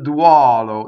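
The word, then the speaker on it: duolo: Whenever you have a UO, usually it's open. So it's duɔlo. So notice the stressed O is open. The unstressed, we know all the unstressed are closed. So it's open O, closed O.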